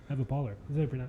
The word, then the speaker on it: Pohler: Eva Pohler. That's how you pronounce Polar, it. like polar bear. Polar.